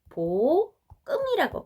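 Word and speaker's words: 볶음: 발음은 어떻게 됩니까? 보끔이라고 발음이 됩니다. 이것은요, 여는 법칙이라고 해가지고요, 뒤로 넘어가는 거예요.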